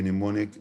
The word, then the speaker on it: mnemonic: So we can sometimes call it a mnemonic device without the M being pronounced. Of course, we don't pronounce that M. So we say just mnemonic. Remember that the M is silent, as we showed here above in the IPA.